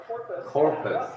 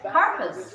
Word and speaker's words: carpus: Corpus. Carpus. What? Yeah, not core. What? Car. But Carpus. it's O. Car. Yeah, it's Not all. corpus. Car. Not core. Oh, Carpus. Carpus. Yeah. Okay, carpus. Yes, that's the pronunciation.